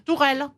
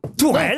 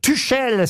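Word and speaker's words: Tuchel: s'appelle qui s'appelle comme comm comme comme elle tourelle tourelle tourelle bonne réponse de Jean ben bravo et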